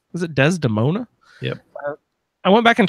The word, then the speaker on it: Desdemona: Is that how you pronounce her name? Is it Desdemona?